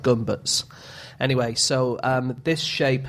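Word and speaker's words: Gömböc: of the thing uh it's spelled like a gach but I think it's pronounced more like guts anyway so um This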